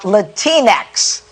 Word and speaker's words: Latinx: uh the other day talking about latinx to man that rhymes with kleenex take a listen to